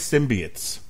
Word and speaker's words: symbiote: And here to have fun with this movie is a man who loves his symbiotes. And that is the official pronunciation for this fucking show.